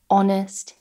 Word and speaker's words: honest: Now there are some exceptions where we do not pronounce the H, and many of these actually come from French. For example, hour, honor, honest, air, and also some